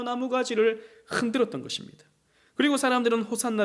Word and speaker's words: 호산나: 쉬 하나입니다 호시 않아 이것이 아람 으로 어 호산나 가 된 것이죠 예수님 당시에는 알아 모를 수 없지 않습니까 그래서 이 때 당시 사람들은 호산나 라고 이것을 발음 하며 외쳤던 것입니다 유대인들은 이 시편의